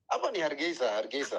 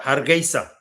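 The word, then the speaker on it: Hargeisa: Hargesa Hargesa.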